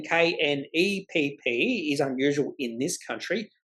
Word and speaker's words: Knapp: And typically when a lot of people do try to pronounce my name, it's Knapp or Knepp, not Knapp, Knepp. And I always say, well, it's not knife or knee or knight. It's the K is silent.